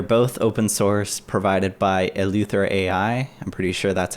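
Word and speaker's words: EleutherAI: They're both open source, provided by Eleuther AI. I'm pretty sure that's how you pronounce it.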